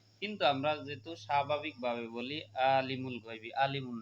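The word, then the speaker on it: عَالِمُ الْغَيْبِ: এক আলিফ টানতে হবে, কিন্তু আমরা যেহেতু স্বাভাবিকভাবে বলি আলিমুল গায়বি, আলিমুল না আলিমুল, এখানে আইন গলার মধ্য থেকে নিতে হবে এবং গলার মধ্য থেকে উচ্চারণ করতে হবে এটাকে।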